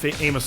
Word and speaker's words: Amos: is it Famous Amos Amos server that's I'm like I'm like how you pronounce that OS like Famous Amos cookies like Amos server that's